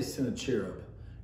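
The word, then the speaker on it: Sennacherib: one is sent a cherub and i say sent a cherub and since i'm reading the lesson what i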